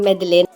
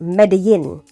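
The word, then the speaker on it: Medellín: that's the plan so she's in medalin I just found out that it's meant to be pronounced medin and then a lot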